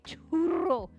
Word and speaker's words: churro: I understand that it's probably churro. Churro. You gotta roll the R's.